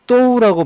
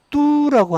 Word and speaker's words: 都: 자, 또우라고 발음을 해서 모두 전부라고 하는 뜻을 갖습니다. 그런데이 도도자는 또 뚜라고 하는 발음도 있습니다.